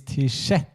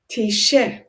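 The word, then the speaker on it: Tische: our dialogue yes exactly be careful Tish singular is Tish and plural is TSH TSH yes need to pronounce that e okay let's look at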